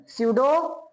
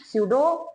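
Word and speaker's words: pseudo: अरे P silent है, स्यूडो acid. समझ में आया? स्यूडो acid.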